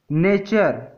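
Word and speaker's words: nature: तो जब भी टी के बाद UR आए तो टी का उच्चारण च हो जाता है।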